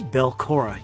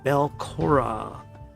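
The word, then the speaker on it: Belcorra: of it into ruin he was defeated this belkora you might want to write that down bell cora i'll spell that if you need it it's b-e-l c-o-r-r-a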